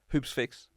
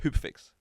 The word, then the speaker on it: Hoopsfix: because to pronounce yeah people lose the F cuz the S and the X Hoops fix yeah a lot of people say hoop fix yeah a lot of people forget the S so even when I'm